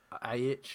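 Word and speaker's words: Aitch: So that's not how you say that, is it? Yeah, H. Yeah, That's not how he spells it. The tit. it's spelled H in like the letter H.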